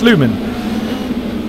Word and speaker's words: Sluman: I've been saying Sulman, it's Sluman.